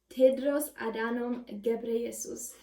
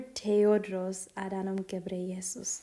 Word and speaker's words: Tedros Adhanom Ghebreyesus: So, ironically, when we were editing this video, we found out that we actually mispronounced his name, and it is Dr. Tedros Adhanom Ghebreyesus.